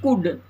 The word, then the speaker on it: could: यहाँ देखिए COULD है, इसको हम पढ़ते हैं कुड, L को छोड़ देते हैं।